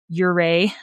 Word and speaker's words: Ouray: But, yes, it is pronounced Ouray, like hip hip hooray, is how a lot of people remember how to say it.